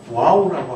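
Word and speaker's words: ו: 그래서 이 verb를 와우라고 하기도 합니다.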